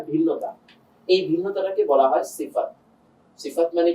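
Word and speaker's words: ث: এবার যদি আমরা সাতে যাই, সা, জিহ্বার আগাটা এসে দাঁতের আগার সঙ্গে লাগবে।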